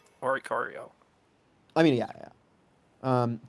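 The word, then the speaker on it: Oricorio: In the TV show they officially pronounce it orario.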